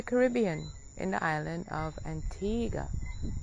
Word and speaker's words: Antigua: I'm in the Caribbean, in the island of Antigua, or Antigua, as some people pronounce it.